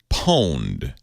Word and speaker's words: pwned: called Have I Been Pwned? That's owned spelled with a P.